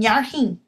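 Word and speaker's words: fhearthainn: Is fualam an nearrthín. Farthín an nearrthín. F-H is silent.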